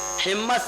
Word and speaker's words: حمص: حمص اور حمص دونوں تلفظ صحیح ہے, ترمذی ترمزی اچھا تلفظ صحیح ہے. حمص بھی پڑھ سکتے ہیں, حمص بھی پڑھ سکتے ہیں.